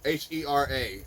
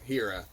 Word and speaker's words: Hera: It's spelled like hero, but with the O at the end. or A at the end. Sorry. So Hera, Hera.